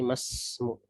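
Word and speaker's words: ما اسمُ: Berarti di sini hamzah wasol, perhatikan cara membacanya, berarti menjadi masmu. Ya, bukan maismu tapi masmu.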